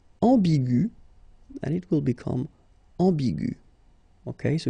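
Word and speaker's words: ambiguë: Another example is ambigu, and it will become ambigu. Okay, so you don't modify the way to pronounce them.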